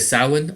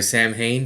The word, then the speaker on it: Samhain: also the Feast of Samhain or Samhain, depending on where you are and how to say it. It is Samhain though, and it's a old Celtic tradition welcoming in the dark of the fall.